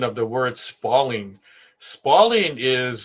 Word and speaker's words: spalling: pronunciation of the word spalling. Spalding is spelled sort of like uh the word falling. It is not spalding.